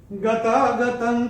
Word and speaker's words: गतागतं: और त के ऊपर चौथे चरण में अनुस्वार के बाद का अक्षर है क, और अनुस्वार के बाद जब क आएगा तो अनुस्वार का उच्चारण होगा अंग। तो ये भी हम अपनी किताब में नोट करके रख सकते हैं। गतागतं काम कामा लभन्ते, ये ऐसे करके आएगा।